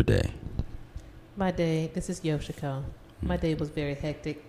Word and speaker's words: Yoshiko: stuff like that first off I have Miss yoshiko did I pronounce that right ma'am yes you did okay Miss yoshiko who is part of yosiko entertainment uh her website is uh www.